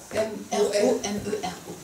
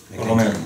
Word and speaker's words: Romero: Et Romero, c'est écrit comment? Comme son nom l'indique. Comme ça se prononce? R-O-M-E-R-O. Romero. Avec un petit accent. C'est Romero. Avec un accent.